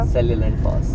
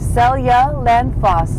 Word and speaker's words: Seljalandsfoss: How do you pronounce it, Sora? Seljalandsfoss. Seljalandsfoss. So Seljalandsfoss. Seljalandsfoss is how you pronounce it.